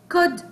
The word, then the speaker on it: could: a boat he'll boat could float here I have letter L but it will be silent okay here is silent